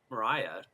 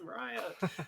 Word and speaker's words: Mariah: There's this girl named Mariah. I said her name wrong originally too. I'm like, oh no, I have to change it. It's not Maria, it's Mariah.